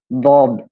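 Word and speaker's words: ض: কেউ কেউ লদ বলে, অনেকে দ, মানে দাল এবং মানে কি বলবো, দাই। দাল, দাল এবং এই জ আছে না, দাল এবং জ এর কাছাকাছি এই উচ্চারণটা হবে। মূলত এটা উচ্চারণ দদ।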